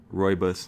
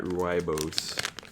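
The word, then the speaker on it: rooibos: South African Roy buus I believe it's pronounced Roy buus not ruos um and this is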